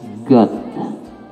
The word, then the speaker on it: got: Di sini dicontohkan got, got, got. Jadi O itu dibaca A, got.